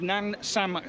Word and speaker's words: Namsan: We're at the bottom of Namsan Tower. That is correct, yes. My pronunciations are getting a lot better.